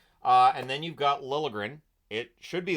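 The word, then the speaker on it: Liljegren: so it works uh and then you've got lilligren it should be l but he wants to pronounce lren so here we are five games no points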